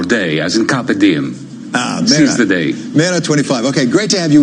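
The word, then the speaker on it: MeRA25: Peres Pakistan did a new political party the Mara 25 renowned singer right he'll correct me returning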